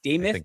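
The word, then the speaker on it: Demuth: And so, uh, Lisa, um, uh, knew I was gonna screw this up. It's Damth, right? Damth. That's right.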